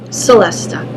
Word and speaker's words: celesta: on the gel esto celesta I'm pronouncing it wrong I'm Italian my background and I always call it I always pronounce the C wrong it's a celesta that